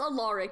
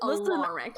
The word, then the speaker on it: Alaric: It's Alaric. He did make a very big point of saying that it is Alaric.